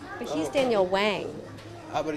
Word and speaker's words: Whang: vocalista dos LCD Soundsystem e Juan MacLean, Nancy Whang. Your surname, what's the correct pronunciation? Whang.